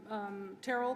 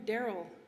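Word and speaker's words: Terryl: leave my opening comments with that i'll have terrell come in you know for the first time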